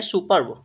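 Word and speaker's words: superb: ई आर वी ठीक है इस वर्ड का उच्चारण करते हैं तो उसे हम पढ़ते हैं सुपर्ब क्या पढ़ेंगे सुपर्ब पढ़ते हैं ठीक है सुपर्ब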